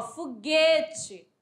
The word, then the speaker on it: foguete: Ó, foguete, ó. Esse som não sai do U.